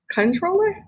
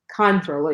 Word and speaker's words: comptroller: let us know that it's actually pronounced controller controller yes control how did